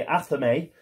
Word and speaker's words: athame: is a very good weapon we've got the athame so apparently that's the way you pronounce it we've got the athame that agnes has got so if we can